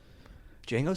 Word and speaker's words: Django: emphasized i was like django how do you spell that you say dj a ngo like the d is silent the django the django